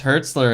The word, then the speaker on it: Hertzler: know I'm German guys my last name is Hertzler it sounds a lot like Heisler Oh one-syllable baby yeah